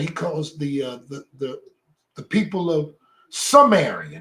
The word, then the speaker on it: Zemarite: Samari. See that the T is silent? The Samari.